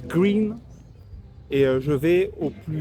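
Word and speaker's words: Gruene: Là, je suis à côté de New Bran à Gruen, ça se prononce Green.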